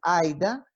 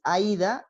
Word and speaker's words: Aida: el otro es que mi nombre es Aida con acento en la A y con I latina, y el portugués es Aida y de hecho es el acento en la Y.